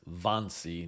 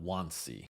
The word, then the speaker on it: Wannsee: That's spelled WNE, but the Germans pronounced it as Vonyi, not Wansi.